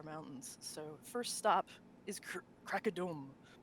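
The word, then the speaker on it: Krakadom: so first stop is crack a dome crocodile we were just debating before this that's how you pronounce it yeah they've removed the umlaut over the o for fifth edition which makes a lot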